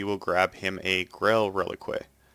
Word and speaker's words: Relique: grab him a Grail Relique, or Relique, as it's pronounced in the game.